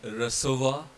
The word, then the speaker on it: recevoir: So they both are pronounced as sir. And like recevoir and décembre.